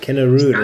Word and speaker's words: Kennerüd: Kennerüd is, I think, Skycaptain. how I'd pronounce it, but I mean, I'm not German. Yeah, That's an umlaut over the U there.